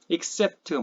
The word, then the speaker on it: except: 근데 실제 영어 회화에서는 except나 accept나 강세가 뒤에 똑같이 있기 때문에 앞에는 약모음이어서 발음이 슈아라고 하는 약한 소리로 이렇게 바뀌게 돼요. 그래서 accept 둘 다 발음이 거의 비슷하게 들려요.